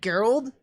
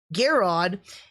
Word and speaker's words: Garrod: correctly it looks weird i want to say gerald but there's no l garrod um very much is